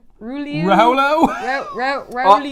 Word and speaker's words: Rouleau: Raulo? Rouleau. I love It's Rolos.